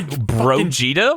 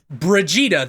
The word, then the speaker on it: Brigitte: Excuse me, Brogita? What? Brigitte. That's how you say it.